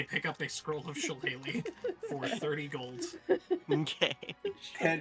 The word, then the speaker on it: shillelagh: Just type in, if you need to do it phonetically, SHIL space AY space LAY. Shillelagh.